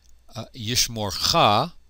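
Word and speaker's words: יִשְׁמָרְךָ: Yishmorcha, and this theme vowel is a short O. It's a kametz hatuf rather than a long A kametz.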